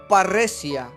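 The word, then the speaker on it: παρρησία: sin que se dice se pronuncia para recia para recia en el griego y esta palabra también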